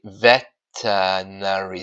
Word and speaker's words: veterinary: Veterinary Sergeant so yeah it sounds like veternary surgeon because they are silence